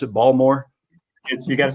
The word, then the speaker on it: Baltimore: You're, uh, in, how did you pronounce it? Balmore. You gota say B when you're out here in Baltimore. Not Baltimore. Baltimore. Balmore.